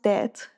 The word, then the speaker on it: debt: So By the way, it's pronounced debt.